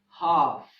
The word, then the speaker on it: half: In English, there are some monosyllabic words that end with LK, LF, and LM that have the silent L. For example, walk, talk, calf, half, palm, and calm.